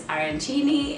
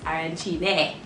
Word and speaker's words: arancini: at the end it's arancini and if it has the e then it's arancine so i'm so excited